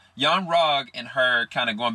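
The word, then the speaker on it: Yon-Rogg: his character his character's name oh my gosh pronounced young wrong young rogue and her kind of going back and forth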